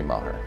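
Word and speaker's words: Meagher: The victim, Donna Maher, her last name is spelled M-E-A-G-H-E-R, but I'm basing the pronunciation off of an ABC Fox Montana video where they pronounced it Maher, so I'm going to say Maher.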